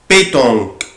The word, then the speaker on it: pétanque: طبعا انا بعمل ستريس على حرف ال P بقولها pétanque.